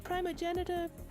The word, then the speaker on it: primogenitor: The primogenitor. Yeah, the primogenitor. Primogenitor. It has pronounced it multiple ways.